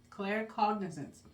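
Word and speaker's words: claircognizance: Clare cognizance.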